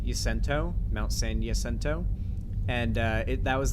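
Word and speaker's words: San Jacinto: a c i n t o but it's pronounced yento Mount San yento and uh it that was the inspiration from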